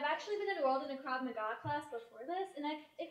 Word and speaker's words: Krav Maga: I hate to disillusion you, but a belt in this crate macaw is really only good for about one thing, and that's holding up my trousers after Thanksgiving dinner. No, it's pronounced Krav Maga, not...